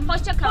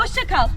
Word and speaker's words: Hoşça kal: Hoşça kal. Hoşça kal.